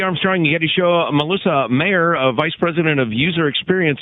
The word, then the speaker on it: Mayer: I'd like to welcome to the Armstrong and Getty Show, Merissa Mayer, Vice President of User Experience at Google. Is it Mayer or Meyer? It's Meyer.